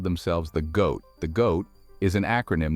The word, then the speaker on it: GOAT: A lot of people called themselves the GOAT. The GOAT is an acronym that stands for Greatest of All Time. It's pronounced like the word goat.